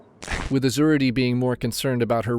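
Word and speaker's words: Azuradee: How do you pronounce that? Azurity Azurity Azurity Azurity Okay, what's your last name?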